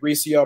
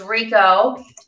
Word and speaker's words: Recio: name is it rico it's pronounced rico i know it looks like ricio my mom and dad